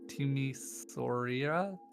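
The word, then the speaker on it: Timișoara: Temisora? Yeah. Timisoara?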